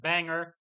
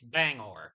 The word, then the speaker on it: Bangor: am pronouncing it correctly it's not Banger it's Bangor the more you know